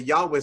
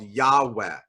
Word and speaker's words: Yahweh: If you just pronounce the letters as they're written, one way to do that is what's called Yahweh. You might have heard that name of God before.